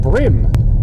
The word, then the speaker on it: bream: and I always thought why is it called brim brim fish it's spelled bream which is a much